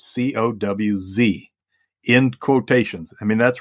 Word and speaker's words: Coues: He wrote a manuscript once, and he had a footnote, and he says, "My name is pronounced Coues, Cowz," in quotations.